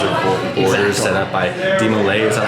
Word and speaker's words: DeMolay: So it's kind of like an open mindset with some strict guidelines or borders set up by DeMolay.